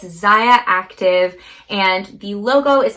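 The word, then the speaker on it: Zyia: is definitely one to know and it's called ziya so it's spelled z-y-i-a it's xayah active and the logo is like a little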